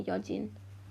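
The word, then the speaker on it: Yeojin: Do you pronounce her name Yojin or Yeonjin? Yeah, Yojin. Yojin. Okay. I'm pronouncing them in Korean, kind of.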